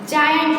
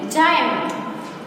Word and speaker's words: giant: यानी इसका मीनिंग हम कैसे बोलेंगे, इसको हम जायंट बोलेंगे। क्या बोलेंगे, जायंट।